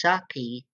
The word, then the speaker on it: Saki: I believe her name is pronounced Saki. Kind of like the wine, but spelled differently. Okay. Um, because it's spelled with an I instead of a E.